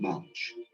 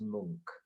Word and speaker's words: Munch: The Scream by Edvard Munch, the most famous. That's actually pronounced Munch.